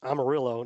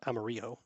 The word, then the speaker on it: Amarillo: point to tell me pronounce Amarillo not amario okay I was listening